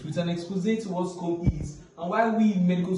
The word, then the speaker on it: SCOME: So yeah, first of all, what is Scome? Scome. Okay, some persons pronounce it as Scome or Scome or Scome, but it's SCOME.